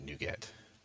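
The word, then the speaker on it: NuGet: nugget i call it nugget some people pronounce it nougat i call it nugget because like they're little nuggets of code right so that's how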